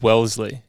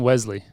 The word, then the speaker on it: Wellesley: I think the final verdict was Wellesley. Which is, I think, how you were saying it. I think I was just saying Wesley. Oh, maybe you were Wesley. I was saying Wesley, and I was saying Wellesley. Yeah. So everyone was saying it wrong. I think we were all wrong. Just Wellesley. I used to play when